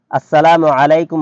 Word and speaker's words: আসসালামু আলাইকুম: কমপক্ষে এতটুকু বিশুদ্ধ উচ্চারণ অবশ্যই জরুরি যার দ্বারা অর্থ ঠিক থাকে, যেমন আসসালামু আলাইকুম ওয়া রাহমাতুল্লাহ। আরবি দেখে এর উচ্চারণ শিখে নেওয়া উচিত, অন্যথায় হা ও আইন এর হরফের যথাযথ মাখরাজ আদায় হয় না।